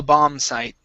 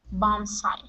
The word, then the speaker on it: bomb site: uh okay bomb site the B here is silent okay now a bomb site bomb site great all right nice